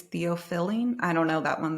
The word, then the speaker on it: theophylline: Oh, I just pronounced an R. There. I know. I just want to say, they just realized there's no R. Theophylline.